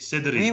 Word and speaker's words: Cédric: Cédric, C-E-D-R-I-C, Oui, Cédric. oui, oui, oui, vous prononcez très bien.